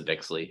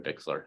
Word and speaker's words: Bixler: and Hefner and Elisa bixley who uh I said her name wrong I'm sorry Bixler who um planned that